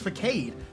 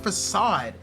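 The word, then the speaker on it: façade: for the longest time I thought it was pronounced fade how the was I supposed to know it's pronounced facade how was I supposed to know how how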